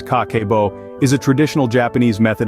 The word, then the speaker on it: Kakeibo: art of mindful money management in Japan Cabo pronounced kako is a traditional Japanese method of managing and